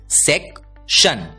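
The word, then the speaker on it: section: उच्चारण होता है शन ध्यान दीजिए टी आई ओ एन की आवाज होती है शन और इसलिए यह बड़ा शब्द भी हम आसानी से पढ़ने वाले हैं क्योंकि एस ई सी इस तीन अक्षरों का आवाज होता है सेक टी आई ओ एन की आवाज होती है शन और इसलिए एस ई सी टी आई ओ एन इस शब्द का उच्चारण होता है सेक शन सेक्शन अगला शब्द देखते हैं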